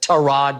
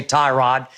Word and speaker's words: Tyrod: they have Tyrod Taylor I know he pronounced that to rod but I'll say tie rod and we both like